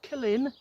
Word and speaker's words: Killin: I'm at Killin, that's how you pronounce it, after my chat with one of the locals the other night.